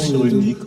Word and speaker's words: Cyrulnik: Non, ça se prononce cyrillique.